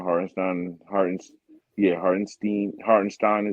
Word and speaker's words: Hartenstein: on hardin's yeah hardinstein hardenstein is in the game he said that's how he wants people to say his name the German Way my heart and steam